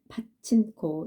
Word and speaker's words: Pachinko: from me about but often i pronounce patinko that's how i heard i think maybe perhaps patchinko is maybe an anglicized american way americanized pronunciation and perhaps i don't